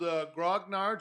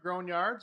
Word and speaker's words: grognard: So, us old grognards or grognards, however you want to say it. If you like the French pronunciation, you'll say grognard.